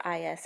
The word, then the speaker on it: I.S.: A note to the reader: I.S. is pronounced as the letter I and then the letter S.